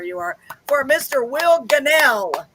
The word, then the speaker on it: Gunnell: Will Gunnell. Gunnell, I said it right.